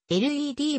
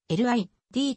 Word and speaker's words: Led: のピーターグラントが lid と余って発音されるのを避けるためリードを led にバルーンをゼッペリンに変えバンド名が led ゼッペリンに決まったとされるまたデンマーク